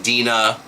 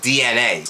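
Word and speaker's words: DeNA: N big a and some people are saying Dina but it's actually um pronounced DNA oh it's cute it's clever and basically it's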